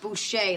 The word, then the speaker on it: Boucher: And Professor Boucher, looks like Boucher, but it's pronounced Boucher, like the French say.